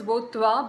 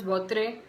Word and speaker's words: Votre: And Votre is, by the way, pronounced as Votwa, but I have always pronounced this as Votre, so I just keep pronouncing it like that.